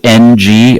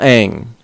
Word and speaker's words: Ng: his name is uh last name is NG I never know how to pronounce that no wait wait whoa white people stand down shut up you uh it's Nigel Ang Nigel Ang okay so he's a comedian